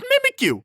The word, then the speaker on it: Mimikyu: who pronounces it mimikyu it's just mimikyu cause it's mimicking it yeah no trust me